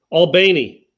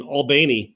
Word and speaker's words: Albany: When I worked in Thomasville, half their teams would play in Albany or Albany. I can't do it. I still can't do it. It's Albany, man.